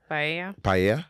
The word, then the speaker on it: paella: Paella. That's how you say it.